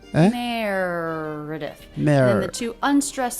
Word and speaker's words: Meredith: I just saw Meredith. Meredith. Then the two unstressed syllables are...